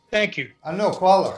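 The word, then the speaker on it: hvala: I know, Kvala. Kvala.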